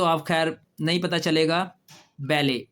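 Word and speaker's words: ballet: इसमें भी T silent है। बेले लेकिन यह मैंने इस वजह से किया कि यह लफ्ज मुझे बड़ा इंटरेस्टिंग लगा कि यह फ्रेंच का वर्ड था। फ्रेंच जो है वो टी को साइलेंट कर देते हैं।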